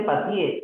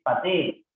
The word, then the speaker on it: patee: Por ejemplo, no se dice patie, es patee. No se dice patie, es pasee.